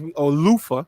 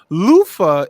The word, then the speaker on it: Luther: Luther Vandross is known as Lufa. Let me say it correctly. Lufa is known for taking people's songs and making them his own.